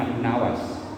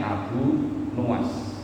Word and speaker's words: Abu Nawas: "Kami memanggilnya Abu Nawas , tetapi pengucapan yang benar adalah Abu Nuas.